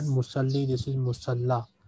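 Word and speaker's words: مصلى: And this word is not musalli, this is musalla. This is not ya, this is alif maksura. It is pronounced like alif.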